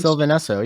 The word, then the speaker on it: Sylvan Esso: one of them is part of, and I'm going to mangle this, but Sylvain Esso, I think that's how it's Oh, pronounced. Sylvan Esso.